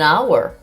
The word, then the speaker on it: hour: So now we have some examples with an, an apple, an elephant, an hour. In this case, the H is silent.